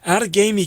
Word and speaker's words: Outagamie: for a long and healthy career out in out of gamey county wisconsin i love that name out of gamey yo well you got the pronunciation right which is better than most what